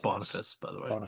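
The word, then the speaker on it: Boniface: Jack Bonaface is Shadowman. But what the detective is confused about is why doesn't he know he is Jack Bonaface? So, Shadowman has Bonafice. It's pronounced Bonafice, by the way.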